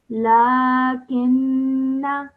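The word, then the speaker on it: لَّٰكِنَّا۠: So when you're reading, this Alif Zaida is not pronounced. Okay. So I would now pronounce this as lakinna.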